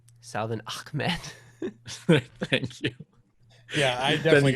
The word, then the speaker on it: Salvon Ahmed: fantasy league winner, then you take how'd you pronounce his last name? I don't want to get it wrong. Salvon Ahmed.